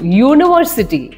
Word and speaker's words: university: In the first word, a university, the sound is ya, U, university.